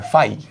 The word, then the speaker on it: phi: এটাকে প্রকাশ করা হয় ফাই, PHI, উচ্চারণ করা হয় এভাবে ফাই।